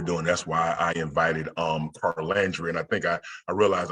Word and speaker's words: Carlandria: That's why I invited Carlandria, and I think I realized I had been saying your name wrong. Is I think I was skipping over the R.